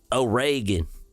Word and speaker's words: Oregon: do they say it like that over there oan it's oan it's like it's like Reagan if